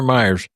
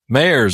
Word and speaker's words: Mayers: Is it Mayers or Myers? Mayers. Okay. Just like it's spelled.